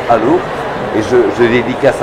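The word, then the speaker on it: Allauch: Ça s'écrit Alloche, mais ça se prononce Allo.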